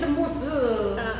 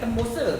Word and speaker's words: tembosa: Rupanya temosa. Temosa. Saya tak cakap tembosa. Saya cakap temosa. So silent B ejaan dia ada B. So silent B, temosa.